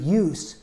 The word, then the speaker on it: use: someone with your talents the meaning is almost the same but the first syllable make sure to use well first s sounds like a z and this is a verb find a good use S sounds like an S and it's a noun all right only